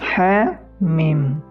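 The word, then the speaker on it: حم: Ya, selanjutnya itu huruf ha, mim. Ha 2 harakat dan mim 6 harakat. Terdapat pada surah Ghafir, Fussilat, surah Asy-Syura, surah Az-Zukhruf, Ad-Dukhan, Al-Jathiyah, dan Al-Ahqaf. Jadi cara membacanya Hamim, Hamim.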